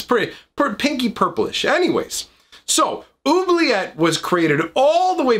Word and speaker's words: Oubliette: of on the screen, Oubliette, or I've also heard it pronounced oubliette, like maybe as the French pronunciation, I'm not sure.